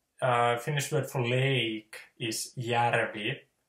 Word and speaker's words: järvi: So the Ha is always ha, and the Finnish word for lake is järvi, J, A with umlaut, RVI, järvi.